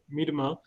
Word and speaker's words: Miedema: to the director of philanthropy philanthropy Miedema for her remarks and my apologies if I have not pronounced your name correctly no you actually you